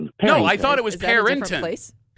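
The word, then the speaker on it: Perinton: So there's no G, Mark.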